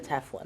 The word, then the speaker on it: tefillin: absolute tefillin, is that the right way it's pronounced? Yep, okay, tefillin.